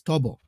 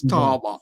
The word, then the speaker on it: Tolbert: Accordingly, his name is Tolbert. A Yes, lot of people Tolbert. are thinking he's Tobo. No, it's Tolbert.